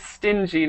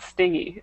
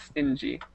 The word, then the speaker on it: stingy: Okay, and remember it is stingy, not stingy. It looks like stingy, but it's stingy.